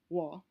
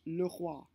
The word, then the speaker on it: roi: The first diphthong is O plus I, which gives you roi. So for the French word the king, it would be pronounced le roi.